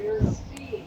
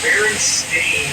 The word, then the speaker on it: Berenstain: I know for a fact that the Berenstain with an E, not an A. Actually, the most likely pronunciation would be Berenstain, since it was spelled the same way like Frankenstein.